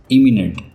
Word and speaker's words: imminent: एमिनेंट, इमिनेंट, दोनों words के pronunciation में थोड़ा सा डिफरेंस है।